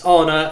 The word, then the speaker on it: Arne: I did for you when I pronounced your name Arnie by the way it's honor and we can come onto